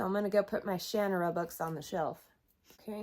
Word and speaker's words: Shannara: And by the way, I'm fully aware that the author pronounces it Shannara, but it's always been Shannara for me, and I really hate it